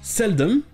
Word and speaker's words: seldom: Et pour ces deux mots, ça sera toujours non accentué, ça se prononcera toujours dumb, mais ça n'a rien à voir avec le suffixe DOM.